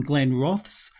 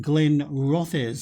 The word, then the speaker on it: Glenrothes: in uh in a message that i've been pronouncing the name incorrectly for uh would you believe 44 videos i've been calling them glenn roths i should have been saying glenn rothers so thank you very much brian harley for